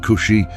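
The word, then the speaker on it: כושי: The word Tunaz, pronounced Cushi, appears throughout the Old Testament, referring to people from the land of Cush, which encompasses modern-day Ethiopia and Sudan.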